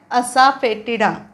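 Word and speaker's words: asafoetida: काळी मिरी chilli chilli मिरची ओके आता हा स्पेलिंग ही कठीण आहे त्याचा उच्चार करायचा आहे असा फेटिडा असा फेटिडा असा फेटिडा म्हणजे हिंग असा फेटिडा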